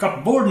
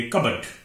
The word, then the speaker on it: cupboard: Number 8, CUPBOARD, ये कपबोर्ड नहीं है, इसे पढ़ेंगे, इसे बोलेंगे कबर्ड, कबर्ड अलमारी, कबर्ड।